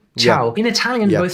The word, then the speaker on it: ciao: It is spelled with a C, but pronounced with a CH. Ciao.